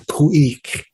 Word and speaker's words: Khu.éex': come from ah the proper pronounced innate uh pronunciation of the uh the name is pouique it means a um potlatch in uh shrink